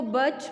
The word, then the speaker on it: birch: First है ऑक, first letter capital ऑक, बर्च, बर्च इसमें आर साइलेंट होगा, इसको बर्च पढ़ेंगे। ओके, प्रोनाउंस कैसे करेंगे? स्पेलिंग्स में तो BIRCH ही आएगा, लेकिन जब हम इसको प्रोनाउंस करेंगे तो ये बर्च होगा।